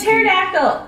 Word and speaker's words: pterodactyl: You don't pronounce A it. pterodactyl!